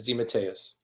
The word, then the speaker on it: DeMatteis: it it you know demeteus is the authentic italian pronunciation and it got americanized into d'amatis so a lot of